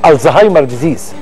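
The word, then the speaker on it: Alzheimer's disease: مهم جدا، مرض الزهايمر، واسمه صح الزهايمر ديزيز. انتوا بتنطقوا المصريين، احنا كمصريين يعني والعرب بننطقوا كده الزهايمر، لا هو النطق الصح له الزهايمر.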